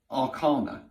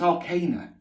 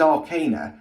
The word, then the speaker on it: Arcana: of times now that everybody calls the tarot the major and minor Arana it's it's Arcana okay in England at least it's Arcana and go and look it up go and Google pronunciation I've double checked I've triple checked I've been through a number of different ones it is Arcana however somebody once has